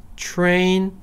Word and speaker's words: train: 트레인 아니고 train 정도예요.